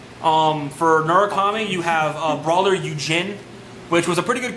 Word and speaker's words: Yujin: It's Eugene. Eugene. Y-O-U-J-I-N. Eugene. Why not Eugene? Because it's Eugene. Why? Because that's how it's pronounced.